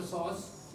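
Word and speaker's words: psoas: is sauce sauce region we write with the P P is silent never bothered for sauce it is sauce so this muscle is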